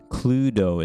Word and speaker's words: Cluedo: on on another stream clue cluedo is how you say cludo okay cool pluto interesting